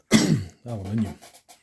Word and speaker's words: aluminium: That's the way the Americans say it. Aluminum. Aluminium.